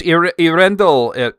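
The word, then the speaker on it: Eärendil: Of course, Earendel, Elrond's father, that's the way you say it, Earendil.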